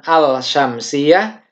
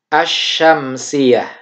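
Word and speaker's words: الشمسية: langsung ke huruf Syamsiyah Jadi dibacanya assyauqiyah ya bukan al-syamsiyah tapi menjadi as-syamsiyah itu di lemnya tidak dibaca dan tidak diberi harokat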